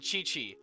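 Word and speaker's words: Qiqi: kind of adds to the charm speaking of mispronunciations actually um I wanted to also say it's kaching and Chichi I know better now thank you and that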